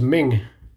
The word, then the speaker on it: Ming: Her name is Ming. That's spelled M-I-N-G, Ming.